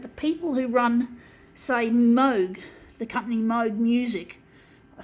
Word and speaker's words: Moog: spelt in double og it's pronounced mode not mood but basically they come